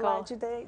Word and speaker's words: Olajide: Can you pronounce his name for me? Michael Olajide Jr.